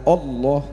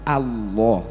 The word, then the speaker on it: Allah: kok enggak ada maka ketika membaca Allah itu bukan Allah tapi Allah wallah itu kan terbuka fatahakan membuka berarti mulutnya harus